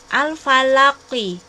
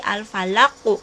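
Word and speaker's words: الفلق: Al-falaqi, ini sebelahnya ini ada tanda akhir ayat. Ini akhir ayat. Jadi bacanya bukan al-falaqi tapi al-falaqu ya.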